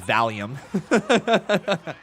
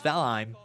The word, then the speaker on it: Valheim: No, it's Valheim. Valheim.